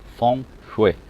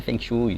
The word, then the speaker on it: Feng Shui: A pronúncia certa é Feng Shui, não é Feng Shui, nem Feng Shui, Feng Shui.